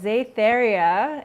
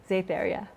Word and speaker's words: Xaetheria: So I have a YouTube channel called Xaetheria, and that's spelled Xaetheria. So it's X and then the word aether and then YA. Xaetheria.